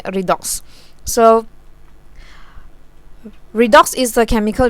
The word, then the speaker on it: redox: hear people mention it i pronounce it as red dots also because they follow the pronunciation for re reduction like that but redox okay redox so redox is the